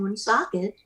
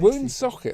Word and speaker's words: Woonsocket: Woonsocket, that's an amazing name. I like the way she said it. She put the emphasis on the second. Woonsocket. Woonsocket, not Woonsocket, but Woonsocket. Ah.